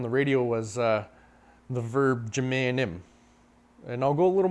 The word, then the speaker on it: minjimenim: Minjimenim or Minjimenim, depending on where you're from. Here in Wisconsin, we kind of drop that first syllable. We kind of just have a subtle M sound.